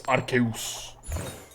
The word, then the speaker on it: Arceus: I still think Arceus should be pronounced like my mythology professor used to pronounce Zeus. Arceus. Zeus.